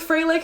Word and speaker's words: Frelich: pronunciation], depends on how– every interview says it differently and she never corrects anybody because she's Deaf so I don't know. We're going to go with fray-lick because I've heard it more often.